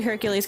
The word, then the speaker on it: Hercule: they'll have some guy call him Hercules. Um but it's Hercule, right? French.